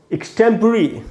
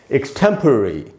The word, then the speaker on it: extempore: इसको हम लोग एक्सटेम्पर या एक्सटेम्पोर इस प्रकार से बोलते हैं, सब गलत उच्चारण है। सही उच्चारण क्या है दोस्तों? एक्सटेम्पररी। एक्सटेम्पररी इस प्रकार से पढ़ेंगे।